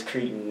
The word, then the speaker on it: Creighton: Yeah, so what how do you correctly pronounce that? I always hear Creighton. Carl Nelson always tells me it's Creighton.